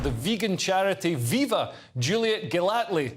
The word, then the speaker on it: Gellatley: I'm joined now by the founder and director of the vegan charity Viva, Juliet Gellatley. Is that how you pronounce it, Juliet? Well done, you got it right first time.